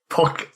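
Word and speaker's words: Pokkén: It's like if it has the accent on the E or the O. Wait, is there an accent on the E or the O? The E, isn't it? Yeah, Poke. Yeah. So it'd be Pokken.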